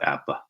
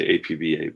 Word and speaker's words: APBA: like about about appala that that's how you pronounce it not a lot of guys say a PBA but now it's it's it's Apple and if you read all the old you know publicity articles and so forth and ads it explains you how to pronounce it so anyway Doug